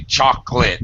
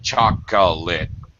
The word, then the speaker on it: chocolate: Sometimes we drop syllables. We say chocolate instead of chocolate.